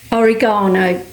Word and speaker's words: oregano: And ore oregano. Saying it like the Americans say it.